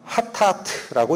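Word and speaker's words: חטאת: 그러나 성경이 얘기하는 죄는 히브리어 원어로는 하타트라고 읽습니다.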